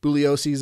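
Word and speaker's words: Bugliosi: you haven't read uh Vince buo booos excuse me g is silent Boo's uh book um You probably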